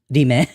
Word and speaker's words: RIM: Even though it's stylized as like rim, it's pronounced Rime.